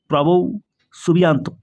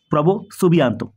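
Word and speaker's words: Prabowo Subianto: হিসেবে থাকছেন আমাদের ইন্দোনেশিয়ার ইন্দোনেশিয়ার রাষ্ট্রপতি নাম কি প্রভো সুবিয়ান্ত এই ধরনের উচ্চারণটা হবে প্রোনাউন্সিয়েশনটা হ্যাঁ প্রভো সুবিয়ান্ত মনে রাখবে তোমরা আমরা জানি প্রজাতন্ত্র দিবস কবে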